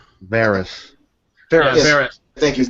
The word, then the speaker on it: Varys: But I'm surprised we didn't talk about the spider because I know his name is Valerian. I know I said his name wrong. Varys.